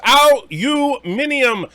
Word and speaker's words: aluminium: And Aberjam says it's pronounced aluminium, because that's how it's frickin' spelled, jerk. Yeah, but aluminum is easier to say.